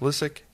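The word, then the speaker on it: Lysyk: the auditor general uh her name is lisik i think we decided yeah listen it's pronounced lucic and uh the union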